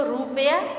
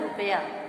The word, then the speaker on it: रुपया: तो रुपया आपका गलत उच्चारण होगा। शुद्ध उच्चारण है रुपया, यानी छोटा उ की मात्रा के साथ जो इसका प्रयोग करके दिखाया जाएगा।